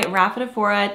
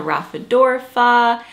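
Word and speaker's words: Rhaphidophora: I called it a raphadorpha I called it I actually I think that was my number one mispronunciation I called it a raphadorpha for a very long time maybe a year and then um I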